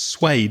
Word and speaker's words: suede: That's suede, isn't it?